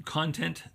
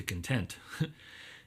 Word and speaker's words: content: idea of moving from content to content. And, you know, it's spelled the same way, but if you emphasize the syllable differently, you know, you're moving